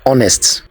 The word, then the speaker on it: honest: L is silent next this is honest the first letter H is the silent letter the silent letter in